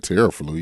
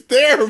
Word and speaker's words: Theraflu: When you go to the store, you don't get Teraflu. You get Theraflu. What the hell does that have to do with anything? Because it's spelled the same way. Oh, that's how that's spelled. Yeah. I didn't know it spelled that. Terraflu. Wait, is it Terraflu? Or is it Theraflu? It's Theraflu.